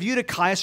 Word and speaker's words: Eutychus: by the name of u2 caius or Eutychus depending on how you want to pronounce it and he's sitting in